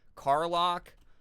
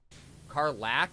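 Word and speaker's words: Karlach: everywhere Carlock uh I don't know if I'm saying that name right um we well we met Gale and uh shadowart um we met uh what's her face carlac is how you say it okay uh we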